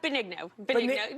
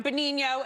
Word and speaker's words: Benigno: Am I saying it correctly? Benigno. That's fine. Benigno, Italian, yes.